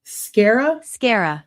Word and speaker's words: sclerae: Did it just say sclera, like without an L? Sclera. Scara with no L.